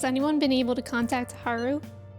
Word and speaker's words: Haru: able to contact Haru is it like Haru or Haru because I've been saying Haru like with the emphasis on the U but I think they the voice actors say Haru like the emphasis on the a in game the emphasis yeah they